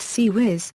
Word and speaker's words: CIWS: close-in weapon system, often pronounced CIWS, is a point defense